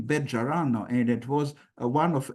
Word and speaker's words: Bejarano: areas, but of course it is not pronounced Bejarano as in modern Spanish. It's pronounced Bet-Jarano according to the pronunciation in the medieval Spain that was kept by Ladino.